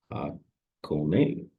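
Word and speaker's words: Hakone: On day four, travelers head to Hakon, pronounced Hakon.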